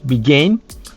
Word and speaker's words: began: Pour la prononciation de ces deux-là, le passé, c'est dans le nez, began. L'autre, c'est dans la gorge, begun.